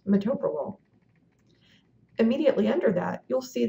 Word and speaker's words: metoprolol: In this instance, this drug is pronounced metoprolol.